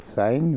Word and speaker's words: sin: kids have like it's S no it's still sign we pronounce it the sin c equal y /